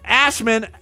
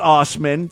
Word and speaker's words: Assman: the notes as well assman actually pronounced Ostman said he appeared he